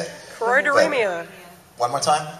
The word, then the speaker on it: Choroideremia: ribbon I'm wearing, and someone could help me pronounce the word. I can't say it. Choroideremia. One more time? Choroideremia.